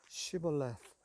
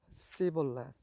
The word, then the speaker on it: Shibboleth: If he said no, then they would say to him, "Say now Shibboleth." But he said Sibboleth, for he could not pronounce it correctly.